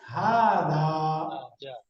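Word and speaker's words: هذا: পুরুষবাচক রূপ শিখেছি এই পুরুষবাচক রূপটা কি হয় হাদা হাদা এই যে স্কুল ইশারা যখন আমরা পুরুষবাচক শব্দের সাথে ব্যবহার করব তখন আমরা উচ্চারণটা পড়ে আসছি কি হাদা তো এখন একটা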